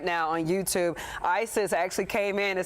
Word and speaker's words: Isis: ISIS actually came in and said that I pronounced it correctly. Okay, said it's the first time. She says Isis, like the Egyptian goddess of love.